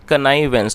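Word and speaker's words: connivance: इसकी स्पेलिंग है CONNIVANVANCE, और इसकी जो करेक्ट प्रोनाउंसिएशन है वो है कनाइवेंस।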